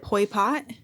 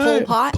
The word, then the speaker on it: Pol Pot: Is it Pol Pot?